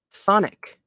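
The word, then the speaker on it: chthonic: where are you at c-h-t-h-o-n-i-c okay definition and pronunciation Sonic concerning belonging to or inhabiting the underworld ooh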